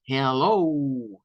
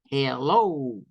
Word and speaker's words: Hello: esta que está acá en el caso de esta al pronunciarla de esta manera la sílaba tónica es y ya no es la del final entonces Esto suena más como Hello o sea Es como ir de acá Hello y descender Esta es hello bajo y subo Hello Hello